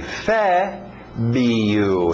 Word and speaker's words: February: Agora esse mesmo final, January, February, sem esse R, como se o R não estivesse aí, ok?